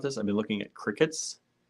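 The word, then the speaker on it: Cricut: I've been looking at crickets c-r-i-c-u-t the I guess it's pronounced Cricket uh Michaels carries them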